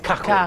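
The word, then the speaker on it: Kokorin: Cacorin, ho scoperto oggi che si pronuncia Cacorin.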